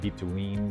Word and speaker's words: Bituin: a talog word uh it's spelled a little differently sounds like between but it's between which means uh stars in in Filipino and um it it's